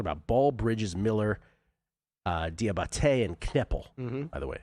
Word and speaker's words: Diabaté: Talking about Ball, Bridges, Miller, uh Diabaté and Kneppel. By the way, accent on the final E on Diabaté.